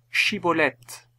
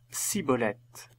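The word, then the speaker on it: Schibboleth: il lui disait alors et bien dis chibolette et il disait siibolette ne réussissant pas à bien prononcer il le saisissait alors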